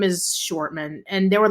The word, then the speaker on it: Shortman: Hey, short man. Hey, short man. But yeah, well, I mean, but it's pronounced Shortman. So it's kind of it's Arnold Shortman.